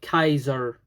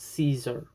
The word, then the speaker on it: Caesar: It would be sort of Kaiser, not Caesar, to be pronounced.